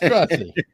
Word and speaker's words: Gratzi: It's Grazie. What's his name again? Grazie. Grazie? Yeah. Like, thank you? Yes.